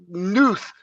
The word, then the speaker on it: Knuth: And we're going to start out with a programming spotlight on Donald Knuth. I think the K is silent. Knuth.